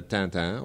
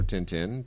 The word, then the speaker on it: Tintin: in the early '90s The Adventures of tantan or Tintin depending on what pronunciation you're going to go with and uh I had